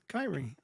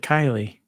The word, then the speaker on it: Kyrie: Yeah, and I think I pronounced, what did you say your name? Kyrie? Yeah, Kyrie. I think I said Kylie.